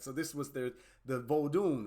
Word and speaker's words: Vodun: very interesting to me is actually vodin right vodun vun there I believe that's the pronunciation vodun and it comes from